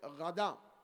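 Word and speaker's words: غداء: ফুতুর দুপুরের খানাকে বলে গাধা গাইন দাল আলিফ হামজা আবার কেউ গাধা গয়েন না গাধার সাথে শব্দ উচ্চারণে শুনতে একরকম শোনা যায় কিন্তু আসলে শব্দটা হল গাধা অথবা অন্য মাজদার থেকে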